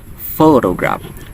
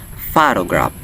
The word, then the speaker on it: photograph: pronounce it correctly it's photograph photograph with the stress or the emphasis on the word on the first syllable which is the fall fall fall if someone mispronounce it they might say photograph photograph photograph which is